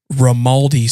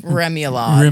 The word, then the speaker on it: remoulade: Uh Kayla comes up to me and said my table called it Rimaldi sauce. Rimaldi remoulade. Remoulade.